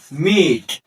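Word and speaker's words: mete: এম ইটি ই এর উচ্চারণ হল মিট অর্থাৎ অংশ ভাগ করে নেয়া।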